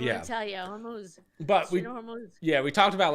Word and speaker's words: Hormuz: Iran, obviously, is the Strait of Hormuz. Is that how you pronounce it? I always thought it was Hormuth, but I guess not.